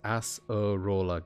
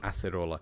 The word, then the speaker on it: Acerola: Dictionary says acerola is acerola. Gotcha. Thank you, Clawful. So it's not ace, it is acerola, which is similar to the Japanese pronunciation.